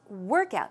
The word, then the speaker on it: workout: as a noun so the stress goes we're on the first syllable so it's workout workout good job so blue